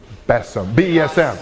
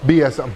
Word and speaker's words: BESM: fading Sons I'm sorry besm oh BSM I I don't say it I just spell it out big eyes small mouth